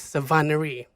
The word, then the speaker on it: Savannahry: She's Khmer American, and her name is Sovahnnary.